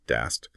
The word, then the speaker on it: DAST: In contrast, you have dynamic application security testing, or DAST, pronounced DAST.